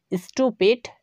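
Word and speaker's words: stupid: স্টুপিড, যার অর্থ হচ্ছে বোকা।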